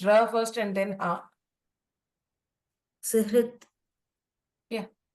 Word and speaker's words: सुहृत्: सुहृत् Yeah. हाँ It is surhut or suhrut, ma'am. सु हकारः ऋकारः First सुहृत् ha comes and then ra comes.